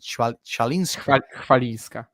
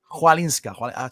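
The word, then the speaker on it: Chwalińska: How do you pronounce it? Chalinska. Chwalinska.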